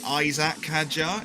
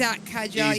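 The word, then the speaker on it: Isack Hadjar: The The one that really annoys me is when people say Isaac Haja instead of Isaac. It's Isak Hajar.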